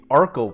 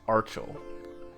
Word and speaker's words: Archel: the name of this amp series as the Arkell pro but apparently the correct pronunciation is archaeal nevertheless the article - pro is a good